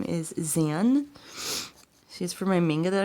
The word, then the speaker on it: Xan: And Zan, it's spelled with it's Xan, and it's actually short for Alexandria, which is her full name.